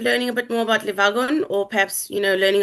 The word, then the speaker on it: Le Wagon: So um it is a French um uh company started in France. So it is le vagon which basically means the wagon.